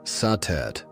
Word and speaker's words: Satet: Before the great names of Isis or Hatheror filled the temples of Egypt, there was Satet, pronounced Satet or Sadis by the Greeks.